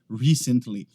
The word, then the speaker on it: recently: britânico, vai ser sempre recently. O que acontece é que às vezes algumas pessoas pronunciam ela recently. Eles acabam colocando a ênfase no lugar errado, é na primeira sílaba.